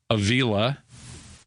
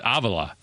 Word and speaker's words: Avila: Some of the guys, you know, they Americanize their name. The catcher for the Tigers is Alex Avila, but his dad, who's in the front office, is Avila. So he's like, no, I don't care. Just Avila's fine.